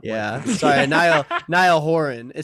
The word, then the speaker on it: Niall Horan: yeah i don't really think he's gonna stand nile haran and make fun of somebody who's not yeah sorry niall horan it sounds like i'm like doing that thing